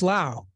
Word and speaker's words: Laos: said it's the professor it's lao okay no s is silence oh well learned something